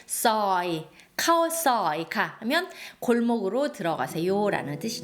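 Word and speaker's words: ซอย: 카오이 가오이 카오는 들어가다 서이는 골목 카오이가 카오이카 자 보통 한국어로이 서위를 바꿨을 때 소이라고 이렇게 많이 적을 거예요. 하지만이 오와 어의 중간 발음을 정확하게 서이 카오이카 하면 골목으로 들어가세요라는 뜻이 되겠습니다.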